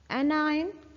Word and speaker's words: anion: इसकी प्रोनाउंसिएशन देख लें, ION की प्रोनाउंसिएशन तो आयन ही होती है। ठीक है। और AN की हो जाएगी एन और CAT कैट। ठीक है। सो pronunciation will be एनायन एंड कैटायन।